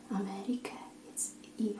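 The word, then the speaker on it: Amerika: America, it's E, okay?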